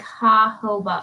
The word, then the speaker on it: jojoba: skin's natural sebum oh connor said it's pronounced like ha hoba oh thank you thank